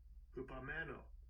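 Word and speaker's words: ὑπομένω: Strong's G5278 hupomeno hupomeno Hupomeno, okay. So it's it's it's pronounced differently than it is here. Cuz you would think it would be hypo, you know? But no, it's hupomeno, right?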